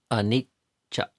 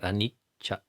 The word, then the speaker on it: anicca: And if you slow down and practice that, anicca, anicca, anicca, and notice the tongue and how air is temporarily held back, and then cha, the next syllable releases out.